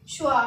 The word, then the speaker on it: choix: तो इसको पढ़ेंगे हम श्वा। क्या पढ़ेंगे, श्वा। हमने एक्स को प्रोनाउंस नहीं किया, एक्स हमारा साइलेंट हो गया और इसको पढ़ा हमने श्वा।